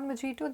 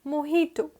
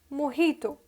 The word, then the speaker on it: mojito: quit this is how you reach perfection in pronunciation this is not majito this is mohito mohito okay so j co-op as h pronounced karinga